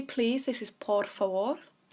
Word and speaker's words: por favor: To say please, this is por favor. We have those rolled R's in there. Por favor. So it's a vor towards the end.